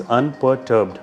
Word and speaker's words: unperturbed: Pronunciation is unperturbed. Perturbed. R is silent. Unperturbed.